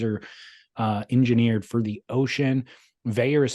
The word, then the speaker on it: Vaer: Veyer is spelled Vaer, and we will save you 15% with promo code Splendor15.